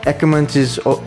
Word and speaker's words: Ackermans: intellectuality is nothing but a Did you know that Ackermans is actually pronounced AC Kermans?